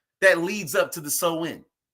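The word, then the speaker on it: Samhain: when is a gallium a galaic word pronounced so in right celebrated from October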